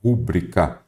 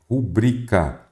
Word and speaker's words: rubrica: estar acentuado por exemplo se eu trouxesse a palavra rúbrica aí você já falou assim olha o professor pronunciou errado pronunciei mesmo que a pronúncia correta ela é rubrica Então quer dizer que ela é uma paroxítona Por que que não